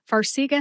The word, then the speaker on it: Farxiga: Farxiga has 3 syllables. Far, as in Hawaii, is far from where I am in Ohio, and that's why I've only been there once. See, like I can see really far through my binoculars. And gu, like the first 2 letters in the word gut, G-U-T, gut, gu. Put all 3 syllables together and you get Farxiga.